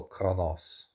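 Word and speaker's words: Qo'noS: the Rome world of Kronos pronounced also Kronos.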